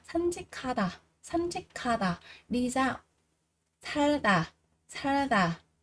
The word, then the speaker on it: 산책하다: Chúng ta có âm cờ gặp âm hờ thì âm cờ sẽ được đọc thành là khờ. Ở đây chúng ta sẽ đọc là 산책하다, 산책하다, đi dạo.